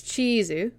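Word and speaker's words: チーズ: or may not be some form of katakana pronunciation of it. Like cake, the food, is keiki. Cheese, the food, is chizu.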